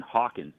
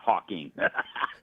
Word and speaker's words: Hawkins: This is Stephen Hawkins, not Hawking. Yeah, I said his name wrong.